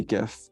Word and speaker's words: GIF: presentation and it says you say it jeff with a j not a g and you just walked